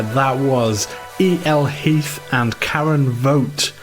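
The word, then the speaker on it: Voigt: That was Eel Heath and Karen Vote here on the Salopian mixtape. And spelled how? V O GT T. Yes. Well, well done with uh vote.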